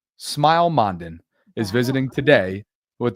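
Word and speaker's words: Smael: His name is Smile. Smile.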